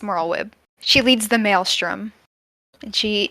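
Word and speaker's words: Merlwyb: for me okay uh Chief Admiral a merlweb uh Blowfish win that's better than I thought you would do yes it's moral web she leads the Maelstrom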